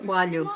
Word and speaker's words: coalho: Coalho.